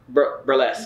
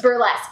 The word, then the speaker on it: burlesque: did how do you say that word breasts burlesque burlesque yeah yeah yeah very like showgirl yeah it